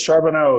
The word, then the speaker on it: Charbonneau: How do you say your last name? Is it Charbonneau? It is Charbonneau, yes. It's very Louisiana.